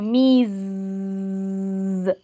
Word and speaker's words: Miss: Entonces no van a decir Miss, sino Miss, como si fuera un mosquito.